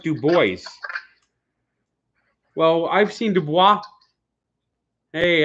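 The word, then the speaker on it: Dubois: one they said it's spelled DUIs but it's pronounced du Bo well I've seen DUIs hey actually a hit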